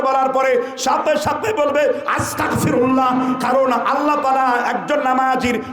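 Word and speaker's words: أستغفر الله: আস্তাগফিরুল্লাহ উচ্চারণ করুন, তালাফফুজ শুদ্ধ করুন, সহিহ করে পড়ুন। আস্তাগফিরুল্লাহ। আস্তাগফিরুল্লাহ মানে আল্লাহ আমি ক্ষমা চাই, আর আস্তাগফিরুল্লাহ মানে হলো আল্লাহ আমি কাফের হতে চাই। তাহলে একটা গাইন আর কাফের মধ্যে পার্থক্য আছে না নাই?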